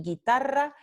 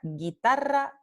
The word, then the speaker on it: guitarra: Cuando tenemos la vocal U después de la consonante oclusiva velar G, como en guerra y guitarra, la U no se pronuncia porque no representa ningún sonido, entonces no se transcribe.